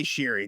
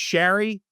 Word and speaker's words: Sheary: for me to say Sheary. That seems like what the announcers are saying. I know Connor Sheary had, made the correction that it should be pronounced Sherry.